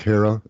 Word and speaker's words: Herer: it's made illegal, Jack Hara, Emperor Wears No Clothes. The last name is spelled Herer. So Herer. But Jack Hara.